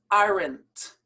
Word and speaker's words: aren't: You have to firmly pronounce the T. For instance, are not, the contracted form becomes aren't.